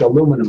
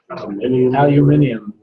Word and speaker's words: aluminum: You make aluminum out of it. Except in England. In England, it's not aluminum. What is it in England? Aluminium. Yeah. We can say it in 4 syllables.